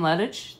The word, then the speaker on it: Lettich: everybody I'm here with lettuce that's how you're supposed to say your last name is pronounced of perfect okay good I've been